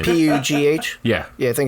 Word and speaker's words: Pugh: Florence Poe? Pugh. Pugh? Pooh? I don't know how to say her last name. P-U-G-H.